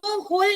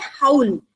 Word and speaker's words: howl: हाँ, तो इसको होल नहीं बोलेंगे, इसका जो प्रोनाउंसिएशन है, ये वर्ड का जो उच्चारण है HOWL, इसे इंग्लिश में कहेंगे हाउल।